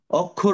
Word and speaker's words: অক্ষর: যেমন একটা জিনিস দেখো এটা আমরা বলছি অক্ষর না কিন্তু এর উচ্চারণ এখানে হবে ও এর মত তো কখন কখন অ